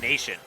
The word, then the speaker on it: Na7ion: We do have some confirmation from chat saying it is in fact pronounced Nation. Yeah, that makes more sense. It just looked like a Z, not a 7 on the previous overlay, and I hadn't looked back.